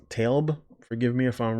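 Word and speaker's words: Tlaib: act and it's by rashida i believe it's pronounced talb forgive me if i'm wrong she is the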